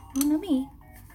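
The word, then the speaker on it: mon amie: And I remember add an E to the end of that, and it's for a female friend. Mon ami. Still pronounced the same.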